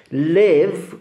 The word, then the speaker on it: live: big, big come begonia, live come levante. Immaginatevi di dire I live with levante, però poi se volete lasciare qualcosa al vostro amico Livio, I leave it with Livio. Vedete la differenza fra live e leave? Di solito in Italia si pronuncia uguale.